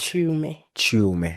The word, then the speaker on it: Chiume: Your mother, the legend, Connie Chiume, you'll help me with pronunciation. Am I getting it right? Chiume.